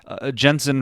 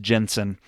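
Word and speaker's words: Jentezen: Franklin talks about, it's a weird name, but I believe it's pronounced Jensen.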